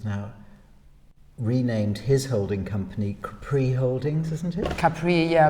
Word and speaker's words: Capri: do the Brits say Capri when it's Capri? Why do they pronounce it the French way?